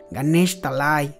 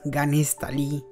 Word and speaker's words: Ganesh Talai: Ganesh Talai, su pueblo natal, aquel pueblo que como niño pequeño no pronunciaba bien y llamaba Ganesh Tali.